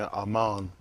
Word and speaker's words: Amon: Amon is how you pronounce it, which is a deity of the Egyptians. That's why we have to make sure we be careful when we say Amon, how we announce it,